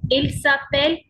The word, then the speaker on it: s'appelle: And here il s'appelle, elle s'appelle, because E and D is silent.